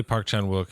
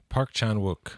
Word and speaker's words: Park Chan-wook: I mean, I say Park Chan-wook is the standard pronunciation.